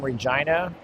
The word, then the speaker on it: Regina: Hi from Regina, Saskatchewan. Rhymes with vagina.